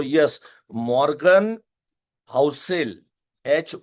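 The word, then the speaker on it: Housel: तो yes Morgan हाउसेल एच ओ यू एस ई L right मॉ्गन हाउसेल की किताब है साइकोलॉजी ऑफ मनी उसमें से ये मुद्दे मैंने लिए हुए हैं।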